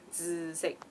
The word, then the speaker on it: 紫: to say purple, is 紫色. So it's a very like TZ kind of sound, 紫, and a bit nasal, 紫, you know, 紫色.